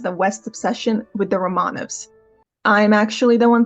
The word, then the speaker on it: Románovs: There's nothing quite as virulent as the West's obsession with the Romanovs. I'm actually the one pronouncing correctly.